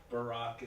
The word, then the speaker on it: Barack: there's some differences uh Barack is two syllables Brock one syllable he's black I'm white